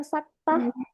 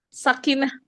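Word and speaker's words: سكتة: Terus ada bacaan saktah. Kak Dia pernah dengar Apa? saktah? Mm-mm. Sakinah. Apa? Saktah, bukan sakinah.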